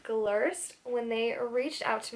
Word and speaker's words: Glirst: it's wrong i apologize but i believe it's pronounced glirst when they reached out to me i was